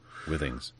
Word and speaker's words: Withings: the wthings thing isn't it yes it is Withings they like to pronounce it yes okay her headquarters in the